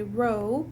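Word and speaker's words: ρ: in record we say row even though it looks like a p or it is a p we pronounce it as row so if row is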